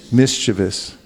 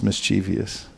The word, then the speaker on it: mischievous: 19 let's say mischievous mischievous there is no such thing as mischievous it's a mispronunciation mischievous okay these asuras are